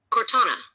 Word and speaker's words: Cortana: Cortana.